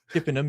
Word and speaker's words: Chippenham: My friend Dean who lives in Chippenham, is that how you say it? Chippenham.